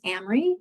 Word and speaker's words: Amry: this class so again my name is Amry it rhymes with Camry like the car if that helps or